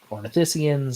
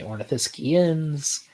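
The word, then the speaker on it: ornithischian: right or orence uh there's a few ways you can pronounce it uh some people say ornithiscians some say ornithiscians I usually say orans but there's no real correct way to do it sweet all right I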